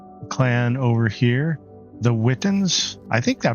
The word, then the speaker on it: Witan: joining up with the clan over here, the Witans. I think I pronounced that correctly. Is that right, Chunky? The Witan?